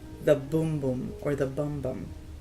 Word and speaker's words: Bum Bum: Brazilian, people call it Bum Bum Cream, some call it Boom Boom Cream. If it is pronounced in Portuguese, it's Boom Boom, I think. But in English, it's Bum Bum.